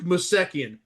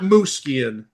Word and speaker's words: Mosekian: That's absolutely 100% Armenian, and I've dealt with enough Armenians in my life to know that's Duke Mosekian, not Muskin.